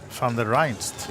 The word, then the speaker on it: Van der Reinst: Can you pronounce his last name correctly? Van der Reinst. You see, you got it, so Maybe, I why don't know.